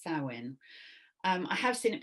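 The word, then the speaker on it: Samhain: spelled s m h a i n but pronounced Sinn um I have seen it pronounced sawin um but SE is the one I shall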